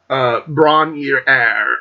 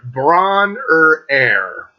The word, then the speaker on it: Bron-Yr-Aur: There's a cottage, and it's called Bron-yr Air. Bron-yr Air. That's how it's pronounced in Welsh.